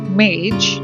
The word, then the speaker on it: Mage: This is the Mage, the Ascension Tarot, pronounced Mage, as in rhyming with page.